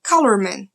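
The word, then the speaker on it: Calormen: não lê em inglês, porque em inglês seria colorman, e a pronúncia da palavra significa homens de cor.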